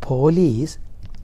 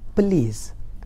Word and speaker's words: police: No, it is not police, it is police. The right pronunciation is police, so we have to catch up that exact pronunciation.